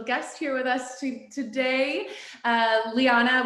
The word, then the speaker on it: Liana: here with us today, Liana, which, oh my gosh, in our talk before this, I didn't even ask if that was the right way to pronounce it. Yes. So I feel No, spot on.